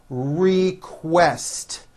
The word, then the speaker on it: request: Don't forget that ST ending. Request.